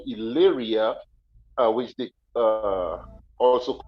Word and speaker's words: Illyria: Albania it was called Illyria uh which the uh also called illyricum and and the word Illyria it the if it's pronounced like I the I is pronounced like the letter E in English so when they say